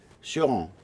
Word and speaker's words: Cioran: j'ai rencontré personnellement Émile Cioran, c'est comme ça qu'on le prononce en roumain, Cioran, ça a été grâce